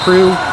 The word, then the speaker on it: CRU: I asked a player CRU versus CRU earlier today, and she did say it's pronounced CRU, as in Motley Crue, who I believe is also out of Washington State, maybe Illinois.